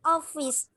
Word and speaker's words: office: The market is next to the post office. I love my city. Yes, great job. Now, a little correction with this word. Pronunciation-nya bukan office dengan bunyi I, tapi bunyi I-nya E.